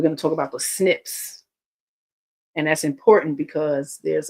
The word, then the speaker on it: SNP: have because of these snips. It's a genetic snip. You know, explain it simply. It's stands for single nucleotide polyomorphism. It's the acronym is SNP, but it's pronounced SNIP.